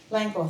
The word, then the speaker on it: Langur: our first finalist tonight to read her story called, I might mispronounce this, Trapped Langur. Is it Langur? Langur. Is that right? Where is she? Langor, thank you.